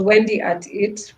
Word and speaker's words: Wendy Art IT: As you can see on my blog, it's Wendy Art IT, but pronounced as Wendy at It, for just to show